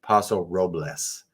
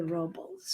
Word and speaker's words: Paso Robles: The correct pronunciation is Paso Robles. But if you're a local, you'll say Robles.